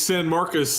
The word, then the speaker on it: San Marcos: it correct him level how do you pronounce it it's San Marcus and this is the